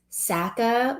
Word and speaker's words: Saka: everything wrong everything from the way i say saka like apparently it's saka and i'm not saying